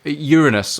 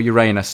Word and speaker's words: Uranus: This moon is Oberon, which is a moon of Uranus or Uranus, depending on how you want to pronounce that and if you want to have a giggle.